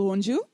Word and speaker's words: wonju: The sound is actually this ah sound. To get it right, the best thing to do is drop your jaw.